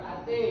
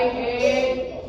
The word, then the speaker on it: ate: Cara bacanya bukan AT. Ini cara bacanya ini oke. I ate apa tadi?